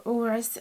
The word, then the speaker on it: Uruz: runes and the um uras if if i'm pronouncing it right let me check yeah i think you can say uruz or uras so your person is